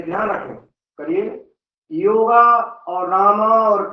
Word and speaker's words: राम: भगवान राम का नाम राम है, ना कि रामा है। रामा कहने से उच्चारण बदल जाता है, उसका अर्थ बदल जाता है।